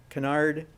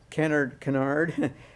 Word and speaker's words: Kennard: Kennard. In Kennard, they pronounced his name Kennard, apparently, but his name was Kennard.